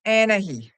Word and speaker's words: Anahi: For those of you who have a hard time to pronounce it, she's pronounced Anahe.